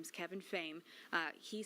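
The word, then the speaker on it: Phayme: P H A Y M E, pronounced Fame.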